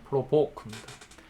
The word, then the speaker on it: provoke: 자, 강세가 어디 있냐면 두 번째 음절에 second syllable의 강세 있고요. 그냥 provoke입니다. 그래서 무엇을 도발하다, 유발하다, 누군가를 짜증나게 하다, 화나게 하다는 의미고요.